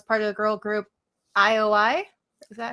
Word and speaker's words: IOI: 101 and was part of the girl group ioi is that how you say it yeah that's it ioi and um I think they only were around